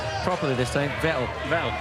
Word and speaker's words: Vettel: Vettel. Norbert Vettel. Vettel as in kettle.